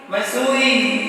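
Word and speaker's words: Mussoorie: उसका नाम मसूरी नहीं है, थोड़ा सा अंतर है, उसमें अंकी विधि। क्या बन जाएगा? मंसूरी। तो स्पेलिंग में क्या बनेगा? MAN। इतना ज्यादा पूछ रहा था। मंसूरी बिल्कुल सही जवाब।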